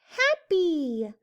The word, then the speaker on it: happy: And this Y says the E sound. App. E. Happy.